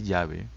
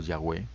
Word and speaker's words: Yahweh: Primer principio que vamos a ver nosotros es un así dice Yahvé o Yahweh, como algunos prefieren decirlo.